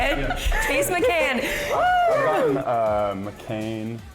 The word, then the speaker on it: McCann: it Chase mccan uh McCain Macon like the like the Porsche Macon okay people like oh